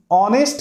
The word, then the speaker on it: honest: जैसे देखिए यहां पर HONEST, ऑनेस्ट गर्ल, देखिए ऑनेस्ट गर्ल, है ना, तो ऑनेस्ट, ये जो प्रोनाउंसिएशन है ये वॉवेल वर्ड्स है ना, वॉवेल